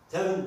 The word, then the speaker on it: tem: Tem dediğimizde burada tem, H harfiyle beraber telaffuz ederiz. Ağzımızdan H harfiyle çıkar.